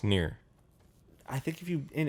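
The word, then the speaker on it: Nier: by the japanese and also near i think would be like nair or nair no it's near i think if you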